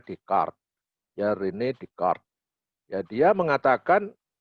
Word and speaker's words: Descartes: Rini dekat yang bacanya Rene di chord bukan Descartes bacaan tulisannya Descartes Tapi bacanya dicat jarene dekat ya dia